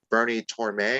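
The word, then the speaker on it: Bernie Tormé: And then, like you pointed out, Greg, Randy dies first to get Bernie Torme.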